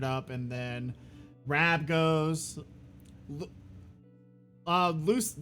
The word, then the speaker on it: Losey: Lucy. Do you pronounce it Lucy or Lozy? It's Losi. It's Losi.